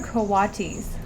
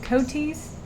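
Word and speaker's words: coati: our favorite little scavengers these are kawati's also called koti's depending on whether you want to pronounce that a in the middle or not it's a matter of personal preference i guess and you're not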